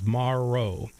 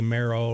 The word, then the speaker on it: Morrow: it with the letters Maro uh a lot of people say Meo or it's it's not bone marrow it is like tomorrow yeah and always too